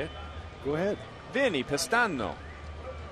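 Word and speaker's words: Vinnie Pestano: Vinny Pistano. That's how you really say his name. That's how they say it in the homeland.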